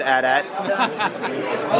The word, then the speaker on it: AT-AT: That's right, I said AT-AT. Don't AT-AT me because I'm saying it correctly.